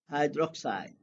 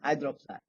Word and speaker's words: hydroxide: not hydro and then pause and oxide. That's a little bit very funny, but you cannot pronounce this. Potassium, hydro, pause a little bit, and then say oxide. No, just hydroxide, because it will be two vowels here, right? Take one out, so hydroxide.